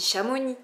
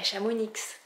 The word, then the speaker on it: Chamonix: manière en même temps on dit chamoni pas Chamonix parce que bon en